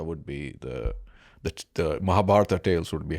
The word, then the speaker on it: Mahabharata: on the pronunciation because there's like a real hard H or something when I've been hearing these podcasts I've been listening to mahabat mahabat can you say it mahab not even close mahab say it again